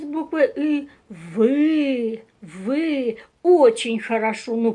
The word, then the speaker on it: ы: Буква «ы» и звук «ы» слышится постоянно в этих словах, и они общие для всех этих слов.